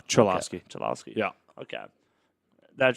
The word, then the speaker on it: Cholowski: Okay, it's not Kolowski. No, Cholowski.